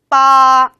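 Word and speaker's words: 八: 빠 라고 읽으면 되겠습니다.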